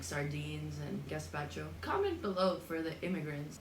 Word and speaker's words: gazpacho: H we are making gaspacho and yes I'm pronouncing it gaspacho because if you ever hear me say like gaspacho shoot me then kill me then okay cool